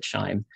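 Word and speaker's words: QIIME: a pipeline called chime it may be a cue but the people pronounce it chime that chime 2 is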